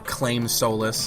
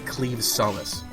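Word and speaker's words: Claimh Solais: Solace which is what it looks like or claim soless that's what I've hear a lot of people calling it I'm going to be calling it The clim Solace because that just it sounds right to me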